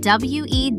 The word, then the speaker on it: Wednesday: It's spelled W-E-D-N-E-S-D-A-Y. Look at that spelling. Logically, you'd think there's a D sound in the middle somewhere. There isn't. You just say Wednesday. That first D just disappears.